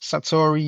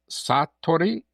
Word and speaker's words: Satori: Satori is, Satori Innovation. and that is, and it's a Japanese word, which in Japanese it would sound Satori, but for us, Satori is the way to say it, that most people will follow it.